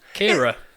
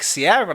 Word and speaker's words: Ciara: what's the storm called Kiera yeah I've been pronouncing it like Ciara like the R&B singer because I'm yeah it's because there's okay so it's like it's like Cara but with an R unit yeah so that's